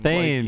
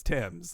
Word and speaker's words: Thames: For me and you growing up, I always thought it was Thames. You never knew that it was. I guess a parent eventually told me, no, it's Thames. It's not, but it's spelled Thames.